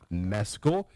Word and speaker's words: Mescal: Paul Mescal is how he pronounced his name on SNL. I didn't know if it was Mescal. He pronounced it Mescal.